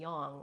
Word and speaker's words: yang: like American English but the pronun iation of of a in Sanskrit is a so yin and Yong would actually be the proper way to pronounce it uh no some of